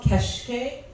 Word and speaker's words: keşke: month uh it's called keshke so the S with a little tail we pronounce it like an s h in English and it's a Turkish